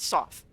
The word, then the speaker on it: Soth: It's Sath or Sooth, or how was it pronounced? Soth.